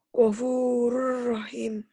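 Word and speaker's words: غَفُورٌ رَّحِيمٌ: Ditulisnya gopurun, dibacanya gopurur, N-nya nggak ada. Gopurur rahim. Jadi idgham itu tulisan dan bacaan berbeda. Ditulisnya ada bunyi N-nya, dibacanya bunyi N-nya hilang.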